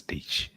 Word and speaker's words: Diesch: Deitsch. Diesch. D-I-E-S-C-H. Guessing that's Dutch. Yeah. But they signed him to the practice squad. I'm a third Dutch, so yeah, that's Deitsch.